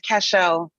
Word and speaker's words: Cashel: LeBron know your name you're saying it right you said it right it's Cashel hi I want to First